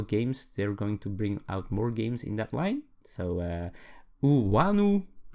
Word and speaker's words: Iunu: So Wanu. It's spelled I-U-N-U.